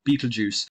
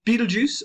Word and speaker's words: Betelgeuse: Betelgeuse is very common. Betelgeuse, pronouncing this SE at the end as a Z is very, very common.